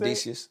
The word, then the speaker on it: Edicius: Suicide spelled backwards. Yeah. Do you know how to pronounce this thing? Edicius. Edicius, okay.